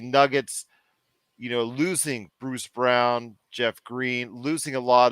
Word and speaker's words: Braun: Jr you have Christian Brock Brown spelled like Braun Christian Brown who could take over